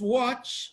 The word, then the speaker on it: watch: representing the sound T option A is watch even though we have t in watch t is silent so is eliminated B option b is